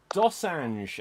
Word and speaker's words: Dosange: Dosange, am I getting that pronunciation correct? Yep.